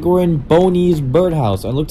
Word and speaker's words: Boney's: Either Boney's Birdhouse or Bonnie's Birdhouse. But I think it's pronounced Boney's Birdhouse.